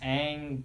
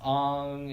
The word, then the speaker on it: Aang: Like why is Aang being pronounced as Ong, and Yeah, why is Why is why why Why is why?